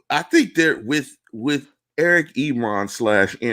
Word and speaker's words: Ebron: were last year with the addition of Eric Ebron. Can I get a round of applause for saying that correctly? You said it right, not Enron, which you could just call him Enron now because I think it's funny enough.